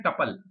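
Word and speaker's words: tuple: और ये जो रिकॉर्ड है पहला जुगल का, फिर शर्मिला का पूरा, इनको कहते हैं टपल, कई लोग ट्यूपल भी बोलते हैं, अपनी मर्जी है, प्रोनाउंसिएशन का तरीका है, कैसे भी बोल सकते हैं।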